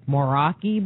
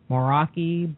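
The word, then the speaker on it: Moeraki: New Zealand and I'm gonna try the pronunciation The moroi Boulders m o e r a k i moroi Boulders but they're round they're in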